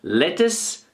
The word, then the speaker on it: lettuce: see this symbol here it means the stress is at the beginning of the word so lettuce lettuce I'd like some